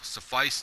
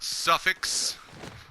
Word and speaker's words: suffice: as my YouTube channel suffice to say that's how it's pronounced suffice not suffice not suffix for some of you